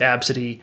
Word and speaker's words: Abcde: is AB City yes I know it's ABCDE but it's pronounced AB City my mom was crazy